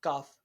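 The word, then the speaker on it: ق: Cough is pronounced from the root of tongue, touching the hard part, touching the hard part of palate.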